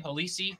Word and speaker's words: Halisi: Is that how you say his name? Halisi? Yep, Halisi. Halisi. Yeah. Halisi or Lassie. Yeah.